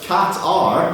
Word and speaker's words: Qatar: Robbie Whitehurst, first drop, opened by pronouncing Qatar as Cat-R. That's the right way to say it, isn't it?